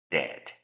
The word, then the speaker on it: dead: La primera D, la E y la A, solamente recuerden que voy a pronunciar la primera y simplemente quedaría así. Dead, muerto.